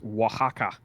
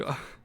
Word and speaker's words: Oaxaca: the name is Oaxaca, I believe. Oaxaca. Not unlike the Mexican region. That is spelled not how you think it is.